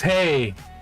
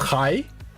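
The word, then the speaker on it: hej: Oh, but it's hey, it's written the same. It's written the same. It's pronounced differently. So, in Danish, the H E J is ki and in uh Swedish it's hey.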